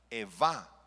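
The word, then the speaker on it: אֵיבָה: Eva, con B grande.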